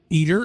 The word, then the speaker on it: Eter: Eater is spelled E T E R.